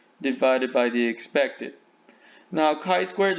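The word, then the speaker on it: χ²: by the expected now chi squared looks kind of like a fancy x symbol here it is pronounced chi squared we have two conditions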